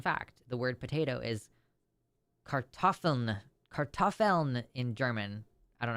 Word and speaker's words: Kartoffel: The word potato is Kartoffeln. Kartoffeln in German. I don't know how to pronounce that.